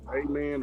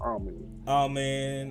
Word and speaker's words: Amen: but see, How you pronounce Amen or Amen? Amen. It's either way.